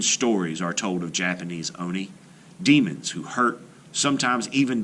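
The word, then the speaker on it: 鬼: retelling are listed below they should be pronounced with equal stress on every syllable singular and plural forms of nouns are indicated by context eg one Oni rules 10 oniy in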